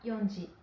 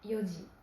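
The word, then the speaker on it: 四時: 4 heures ne se dit pas yonji, mais yoji.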